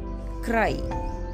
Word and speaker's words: cry: We should pronounce Y as I. R and Y sounds rye. Cry.